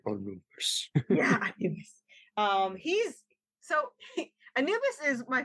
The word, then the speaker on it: Anubis: Actually, I have like Anubis. You gotta say it like they do on Stargate. Anubis.